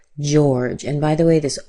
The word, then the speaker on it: George: Be careful that you're not saying georgie or Georgia or anything like that. This is just George.